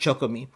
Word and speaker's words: CHOCOME: It's pronounced CHOCOME.